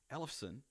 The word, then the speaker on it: Ellefson: the Escalator Main podcast is we have David Ellefson. Right? Did I pronounce that correctly?